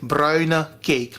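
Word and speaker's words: bruine cake: a cake you guys that is how to pronounce it Bruna cake meaning brown cake traditionally people would add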